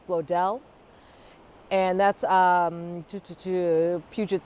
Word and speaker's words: Bloedel: I think that, so it's BLOEDEL, and around here this must be like a like a German integration. This is a highly German populated area. OE in people's last names often goes to an A sound here. So I think that's why I was thinking it was Blodell, with the emphasis on the second syllable.